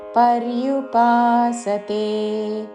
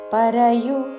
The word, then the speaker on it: పర్యుపాసతే: అని పలికి త్వాం భక్తాస్త్వాం పర్యుపాసతే పరయు అనకూడదు పక్కన రా కి యావత్తు పర్యుపాసతే భక్తాస్త్వాం పర్యుపాసతే ఏచాప్యక్షరమవ్యక్తన్